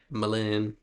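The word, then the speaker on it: M'Lynn: It's spelled Ouiser, bourgeois. And then there's M. Lynn, which is M apostrophe Lynn. Malin.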